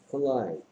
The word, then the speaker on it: climb: Climb. 올라가다. 클라임의 뜻은 올라가다인데. 올라가죠. 하다시긴 한데 이 스펠링에서 뭐 좀 특이한 점 없어요?